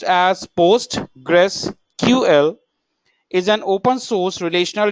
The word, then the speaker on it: PostgreSQL: data integrity and correctness post gree will be pronounced as post Gress ql is an open source relational database management system